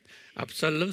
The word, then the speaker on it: 압살롬: 압살롬 스펠링은 ABSALOM 그래요.